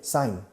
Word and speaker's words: sign: Hay un eje mudo en medio. Sicht. Escrito, pero se pronuncia sign.